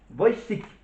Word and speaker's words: Wojcik: Alors son nom de famille, je vais essayer de la prononcer, le nom de famille de Maya. Maya Wojcik. Wojcik.